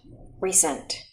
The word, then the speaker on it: recent: here e is long here the e is short let's say this word re-sent say it fast recent very good next word going